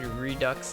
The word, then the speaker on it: Redux: Redux is of Latin origin, so it does pronounce the X at the end.